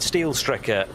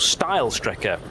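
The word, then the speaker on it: Steilstrecke: green no not quite steel Striker is now still Striker being that effectively the straight line route through the karachiola carousel so uh or style Striker would be the correct pronunciation where the track used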